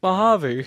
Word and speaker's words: Mojave: And I'm like, no, it's Mojave.